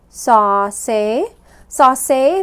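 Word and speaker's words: សរសេរ: and split it up I see the silent row I know that that ends my or ends my syllable and I have two syllables right there okay go ahead and read it sa say means to write okay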